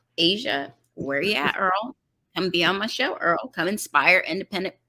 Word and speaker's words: Earle: Yeah, they could just Earle, Earle, E-A-R-L-E. Remember, I was born in London, England, so we spell it with an E at the end.